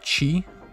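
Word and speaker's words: ち: ones but okay next we have chi which looks like a person's mouth open and they bit their chi chi yeah this stream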